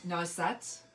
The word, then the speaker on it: noisette: Because I always, noisette. Is that right, Cindy? Noisette.